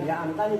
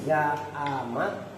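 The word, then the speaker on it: زعمت: Berarti bacanya bukan za'am tani tapi za'amat.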